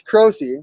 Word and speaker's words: Croce: That's like, my family Americanized the Italian pronunciation a lot, so you're like closer to the original. Oh, wow. Okay, so it's Croce.